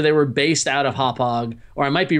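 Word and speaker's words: Hauppauge: the way we have not uh but the pronunciation of ha is not how it's hophog it's okay I almost corrected you Tom on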